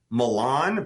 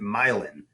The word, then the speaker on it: Milan: Or the street name is spelled like Milan, but we pronounce it Milan.